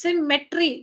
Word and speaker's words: symmetry: it's not that it's symmetry geometry symmetry don't use an N yourself I'm not saying you